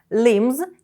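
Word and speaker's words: limbs: intergrated Protection for so lymes and Big streamties Tool Bata кінцівок Зверніть увагу що ним у цьому слові ми не вимовляємо літеру Б це кінцівка цілком А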